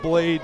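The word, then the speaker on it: Bladee: to a lot of Blade gotten my rhyming down listen to ice dancer 2018 LP by artist blade b-l-a-d-e-e the second e is silent or the first one who knows you're back to back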